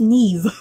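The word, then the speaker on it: Niamh: Playing a character named Ellen, we have I think it's pronounced Neve.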